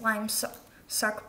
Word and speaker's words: Limsuk: So it's how you pronounce this Lime Suck, but how it's spelled, it's Limsuk.